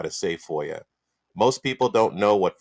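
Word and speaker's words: FOIA: Information Act instead of Foya because some people don't even pronounce it right they say foil I'm going to do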